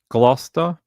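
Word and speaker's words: Gloucester: I can't pronounce that. Glouester.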